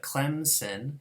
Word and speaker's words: Clemson: it easier to pronounce, people actually insert a sound, Clemson. We should call this an insertion rule.